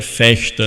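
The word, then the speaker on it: Vechta: alemã que fica perto o nome da universidade é festa né parece festa mas em alemão ver tem som de F fica com essa pronúncia então festa fica perto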